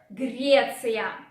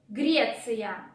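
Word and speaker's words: Греция: Sound R is again a bit challenging, so pay attention to it. Don't forget to roar. Grecia.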